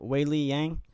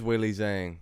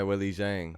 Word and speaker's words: Weili Zhang: Yang, I think the Z is silent. So Weili Yang. No, I think it is Weili Zhang. Yeah. Yeah, Weili Zhang.